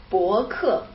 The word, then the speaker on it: 博客: We call blog 博客. And how do you say podcast? That is 博客. So they're very similar, yeah, but different tones.